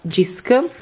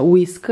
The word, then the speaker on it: JYSK: Allora, questo centrotavola l'ho preso da Jisk, che ho scoperto da pochissimo che si pronuncia Whisk, ma io penso comunque di continuarlo a chiamare Jisk, scusate. E comunque si scrive JYSK, lo trovate anche sul sito.